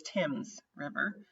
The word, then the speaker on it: Thames: Before the Battle of Thames, and that is how you pronounce that, is not Thames, it is Thames River, Tecumseh encouraged the natives to form a confederation with the United States.